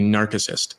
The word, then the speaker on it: narcissist: It should be narcissist. The guy who fell in love with his reflection was narcissist. The C is hard in Latin.